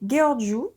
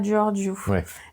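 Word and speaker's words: Gheorghiu: Alors les Georju, je crois que ça se prononce comme ça hein, pas Georgeu. Les Gorju, d'ailleurs, on les reprend souvent dans le film.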